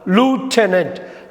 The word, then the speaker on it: lieutenant: யூகேல இதை லெஃப்டினன்ட், யூஎஸில் இதை எப்படி சொல்லுவாங்கன்னா லூட்டனன்ட்.